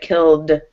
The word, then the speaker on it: killed: So it was just that ED. I wanted to see if you could remember which ED to use here. And it's the D, right? Killed.